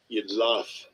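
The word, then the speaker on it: Jidlaph: Yidlaf. You locked. Yidlaf. Okay, yeah, there's an F because he pronounced it with a F.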